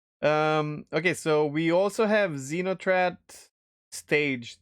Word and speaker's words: Xenothreat: But stage 3, to make it simple, stage 1 was just Xenotrat. Actually, that's how they say it.